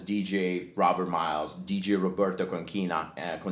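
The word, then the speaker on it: Concina: And he used to refer to himself as DJ Robert Miles, DJ Roberto Conchina. Conchina is the right pronunciation.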